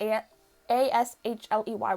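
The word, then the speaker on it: Ashleigh: When the name is spelled like that, not A-S-H-L-E-Y. When it's spelled A-S-H-L-E-I-G-H, it's Ashley. Hello, Ashley.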